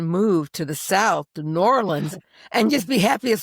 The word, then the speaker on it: New Orleans: And you can tell I love New Orleans because I know how to say it like with marbles in your mouth. New Orleans. It's very good. It's one word. It's not two words.